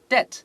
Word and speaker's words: debt: 没错，在这边搭配上面的话，我们 many 会搭配可数的 things，不可数的这个 debt 我们会用 much 变成 too much debt。Too many things。如果你要强化你自己本身口语的语感的话，你就要多念几个